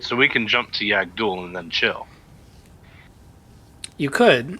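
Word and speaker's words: Yag'Dhul: YAG apostrophe DHUL. Yagdul. Yeah, duel. Yagdul. Anyway, that planet is where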